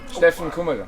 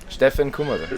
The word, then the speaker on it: Steffen Kummerer: Steffen Kummerer. ¿Qué? Steffen Kummerer. Stephen Comer.